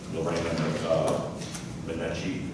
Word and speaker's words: Lorena Minetti: So Lorena Minetti is how you pronounce her name.